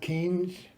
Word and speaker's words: Keynes: Because in the hard right circles in which many Liberals move, the name of John Maynard Keynes rhymes with brains has become a swear word.